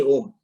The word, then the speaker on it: Om: But Om is comprised of A, U, Sound originates as A, sound sustains as U, and sound terminates as like when we say Om.